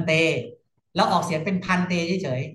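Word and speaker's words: ภนฺเต: ได้ บัน บัน เต เรา ออก เสียง เป็น พันเต เฉย ๆ นะ ครับ พันเต ออก เสียง เป็น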